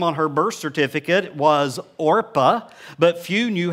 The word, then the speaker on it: Orpah: Her name is only mentioned twice, and it's in the first chapter, and her name is Orpah.